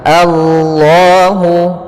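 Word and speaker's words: الله: yastahziu bihim waamudduhum fiihim pada lafal Allahu ini di awal ini kita baca dengan bacaan fathah a kemudian langsung ke Allah a-nya tipis a Allah Allah baru lnya tebal Kemudian pada lafal Allah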